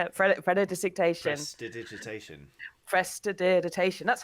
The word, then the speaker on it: prestidigitation: Prestidigitation.